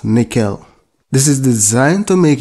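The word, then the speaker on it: N1QL: talking about is the annual ql pronounced nickel this is designed to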